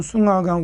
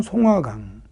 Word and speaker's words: 송화강: 중국식 발음은 숭화강, 우리 발음은 송화강.